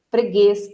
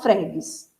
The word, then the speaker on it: freguês: Freguês, você não fala fregues, e nem inglês, nem campones. Você fala camponês, portanto a sílaba tônica está no es. Freguês, a sílaba tônica está no guês.